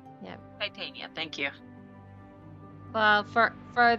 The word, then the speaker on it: Titania: I'll say yes the true uh the true pronunciation is Titania yeah Titania thank you well for for this for this